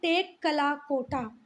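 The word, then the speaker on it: Tekkalakota: Bones of cattle मिली हैं, shape, goats eight, एक minute, चलो भाई, इसका प्रोनाउंसिएशन मैंने ही देख लिया। इसको बोलते हैं टेक कला कोटा, टेक कला कोटा, ठीक है।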